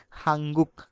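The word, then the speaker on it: 한국: হচ্ছে এই যে আপনারা নিয়ন বাচ্চিমের পরে যদি গিয়ক দেখেন তার মানে এই দুইটা মিলায় তখন ইয়ং হয়ে যায় মানে দুইটা না ইয়ং শুধু নিয়নের জায়গায় ইয়ং বসবে তার মানে হাঙ্গুক লেখা আছে আমাদেরকে উচ্চারণ করতে হবে হাঙ্গুক হাঙ্গুক তার হাঙ্গুক মানে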